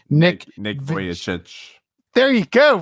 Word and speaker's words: Vujicic: I never know how to pronounce Nick's second name. Nick Vujicic. There you go, Vujicic.